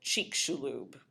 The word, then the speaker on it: Chicxulub: talk about the dinosaur killer this is called Chek shulu that's how you pronounce this word um and it's named for